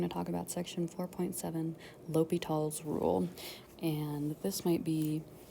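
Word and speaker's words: L'Hôpital: french language um but this little h o with a hat combination makes the hard o sound so this is pronounced l'hopital not the hospitals not la hopital but just l'hopital um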